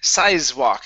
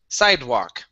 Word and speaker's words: sidewalk: uh next is okay now here you said size walk instead of size this is a d sound side sidewalk sidewalk okay very good uh next